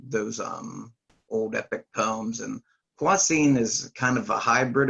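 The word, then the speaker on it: Kwasin: Some people may pronounce it, Quasen, but that's how I always pronounced it. But just over the years, talking to Christopher Paul Carey, I've learned that it's Quasine, so I'm just using that pronunciation.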